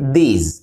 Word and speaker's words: these: এরপরে আছে these, একটি হলো THIS, this, এটার উচ্চারণ হলো saw, this, আর এরপরেরটি হলো THESE, এটার উচ্চারণে শেষে হবে জ, these, these যেহেতু প্লুরাল এ